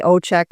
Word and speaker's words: Ojczyk: And in Polish, the J is a Y pronunciation. In Poland